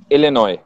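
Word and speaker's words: Illinois: मैंने स्पेल सही किया इनोस लिनॉय लिनॉय एस साइलेंट आई सी आई सी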